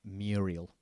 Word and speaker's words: Muriel: When I was little, I couldn't pronounce the liquid U in Muriel, so I called her Moo, like a Welsh boy, bootiful, or a stupid American.